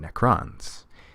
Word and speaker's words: Necron: that he was feeling necrons got to put the emphasis on the second syllable there just to make